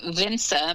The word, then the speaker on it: Vinse: school sorry uh school so my pronunciation probably isn't great but it's like my daughter would say like fincher school in her amsterdam accent so it's v-v-i-n-s-e so yeah vince is cool okay yeah